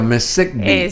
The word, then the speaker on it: MESECVI: así se pronuncia, MESECVI.